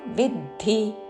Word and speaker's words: విద్ధి: विधദ്ധി തൃഷ്ണാ സംഘമു അനുస్వారము నాసిక వ उच्चारण रागात्मक विधദ്ധി വിద్ధి కాదు విద్ధి విమేఘాతతో విద్ధి రెండు హ్రస్వాక్షరములు రజోరాగాత్మకౌం విద్ధి తృష్ణ సంఘ సముద్భవం తృష్ణ